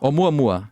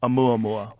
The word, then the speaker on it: Oumuamua: Oumuamua. Oumuamua.